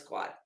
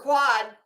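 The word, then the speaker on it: quod: let's see what per is it quo or quad I don't know that you do pronounce the d on the end I think it is quad a defamation per quad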